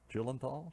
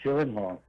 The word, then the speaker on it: Gyllenhaal: Jake, I can't ever pronounce his name. Gyllenthal. Gyllenhaal.